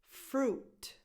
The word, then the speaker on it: fruit: same pronunciation mistake because they both have U-I in their spelling, but the I is basically silent. It's just there to kind of elongate the U. Fruit, juice, fruit juice, fruit juice.